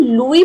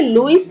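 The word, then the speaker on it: Louis: अब इसको हम लुई प्रोनाउंस करेंगे। ठीक है? लुईस नहीं प्रोनाउंस करेंगे। Okay? S is silent over here. तो ये है लुई ब्रेल।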